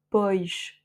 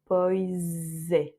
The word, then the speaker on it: pois: Donc là, si on avait le mot poche tout seul, on aurait dit poche avec she à la fin. Mais comme il est dans cette expression suivie de e, alors on va prononcer poise, un z et non pas un che.